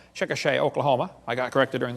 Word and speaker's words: Chickasha: 30 years old a five textbook and I pronounced it wrong as Chickasha nots Chickasaw Chickasha Oklahoma I got corrected during the break um